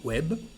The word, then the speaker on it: web: So the word web, coming from the English. So here we pronounce the letter B, web.